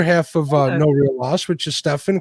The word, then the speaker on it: Stefan: Yeah, the way he always says like how to pronounce his name is it's like 7 with a T.